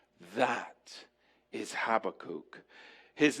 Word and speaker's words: Habakkuk: And that is Habakkuk. That is Habakkuk. His name is spelled in the Hebrew He Bet Kuv Vav Kuf.